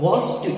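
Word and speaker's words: watched: यहाँ पे आप वॉच्ड इसे पढ़िएगा।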